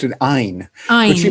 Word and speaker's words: Ayn: and I think she pronounced it Ein, but she Ayn, made right.